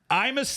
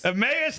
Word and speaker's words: Emmaus: And then Sean and I will be doing the Imus Theater. Did I say it right? Emmaus Theater in Emmaus, Pennsylvania.